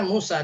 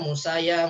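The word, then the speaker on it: موسى: Yang memang bacanya Musa, tidak ada Musaya, Musayu, Musayi, gitu ya.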